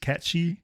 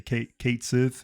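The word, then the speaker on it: Cait Sith: So if, I know it's pronounced Catchy. Sometimes I call him Catchy. Sometimes I just say Kate Sith.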